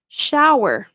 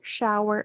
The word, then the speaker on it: shower: Remember, it's like a snake, s, and then the SH. Shh, shh, like when you're telling someone to be quiet. Shh. So sour, shower. And it rhymes with flower. Sour, shower, flower.